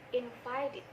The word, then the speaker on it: invited: Invite ketika ditambahkan di, maka d-nya dibaca id, sehingga invite ketika ditambahkan di, cara pengucapannya itu menjadi invited.